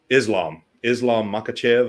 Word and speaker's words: Makhachev: Islam Makhachev, I believe is how you say his name.